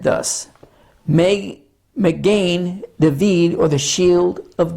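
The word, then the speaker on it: מגן: The word is pronounced Magen. You will hear the word in Jewish communities said thus, Magen David, or the shield of David.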